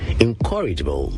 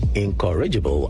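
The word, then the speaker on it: incorrigible: Encourageable. Take note, the word is pronounced encourageable, not encouraable. As many Ghanaians say, the stress is on the second syllable.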